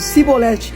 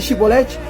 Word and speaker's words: chibolete: é muito interessante percebe se os homens dissesse sibolete em vez de chibolete eles entendia que era